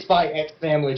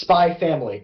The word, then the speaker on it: Spy x Family: But I know it's not Spy X Family, John. It's not Hunter x Hunter. It's Hunter Hunter, Hunter Hunter, and it's Spy Family. There's no X.